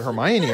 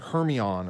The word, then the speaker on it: Hermione: you say it i thought it was like hermione or something it was weird i didn't quite